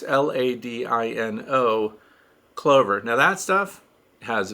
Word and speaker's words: Ladino: But I'll just spell it. I think it's Ladino. It's Ladino.